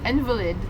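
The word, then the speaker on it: Invalides: How do you say, is it Invalid? Where we're going tomorrow? Invalid? Invalid? Okay. We're going to Invalid tomorrow.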